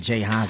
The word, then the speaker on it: Jxhines: J. Hans. You know what I'm saying? The X is silent like the G in lasagna.